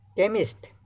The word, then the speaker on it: chemist: Chemist, H is silent.